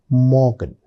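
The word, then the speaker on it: Morgen: I pronounce it Guten Morgan. Did you observe when I was saying Morgan, the letter R was very very faintly pronounced. It's very important.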